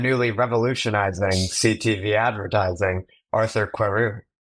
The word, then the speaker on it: Querou: If you want the pronunciation like perfect, it would be Querou, but I'll go with it.